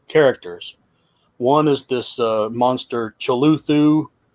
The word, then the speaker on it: Cthulhu: One is this monster Cthulhu. Cthulhu? I pronounce everything wrong.